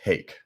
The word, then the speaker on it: Haeck: my full name uh my name is hake hey yes I got it right yep very simple it rhymes with cake and that is uh